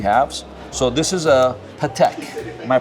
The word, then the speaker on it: Patek Philippe: So this is a Patek. Am I pronouncing that correctly? yeah, Patek Philippe Aquanaut reference 5167A.